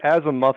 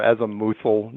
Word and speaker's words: azimuthal: It's either the azimuthal or azimuthal, depending on how you want to pronounce it.